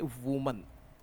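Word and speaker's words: women: इसका प्रोनाउंसिएशन ऐसा आना चाहिए, वीमेन, वीमेन, वीमेन, वीमेन, ध्यान रखें।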